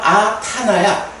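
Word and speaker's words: aṭṭhāna: 그래서 아타나야. 근데 이제 빨리어 발음 관계에서 이럴 때는 보통 뒤에 오는 말을 하나 덧붙여 주거든요. 그래서 타나의 부정이 돼서 아타나 이렇게 돼요.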